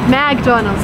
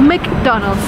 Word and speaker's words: McDonald's: It's not McDonald's or McDonald's, it's McDonald's.